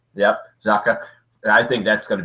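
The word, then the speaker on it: Xhaka: naturally the Swiss midfielder uh how do you pronounce the last name it's zaka yep zaka I think that's going to be great for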